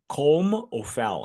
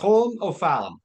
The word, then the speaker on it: Colm O'Fallon: Why don't you pronounce his name properly? Colm O'Fallon. Colm O'Fallon. Colm O'Fallon. Colm. So Colm.